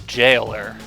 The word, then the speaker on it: Jailer: We find our first boss, the Jailer. Pronounced with a soft G, as in Job.